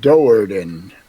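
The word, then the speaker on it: Do'Urden: Oh, it's pronounced at Doardan.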